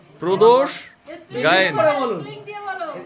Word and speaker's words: প্রদোষ: অসংখ্য নামে প্রদষ দাকে সম্বোধন করে কেউ বলে প্রত্যুষ প্রদ্যুস প্রদপরে কি বলে পরিতোষ মানে কত নামে হ্যাঁ ভালো করে বলতো কি নাম আপনার নামটা কি প্রদোষ করে বলুন স্পেলিং দিয়ে বলো স্পেলিংটা বলুন তো